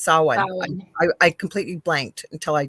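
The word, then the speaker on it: Samhain: probably don't say that right saw actually it's saw I completely blanked until I just went no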